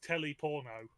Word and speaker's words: Teleporno: names of the dialects, but his name is Teleporno in that Elvish dialect. Ah! Yeah. Yes, it's spelled like it as well because it's Teleporno.